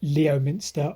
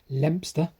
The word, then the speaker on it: Leominster: Or as I pronounce it, Leominster or Leominster or whatever. Apparently, Leominster is pronounced Lempster.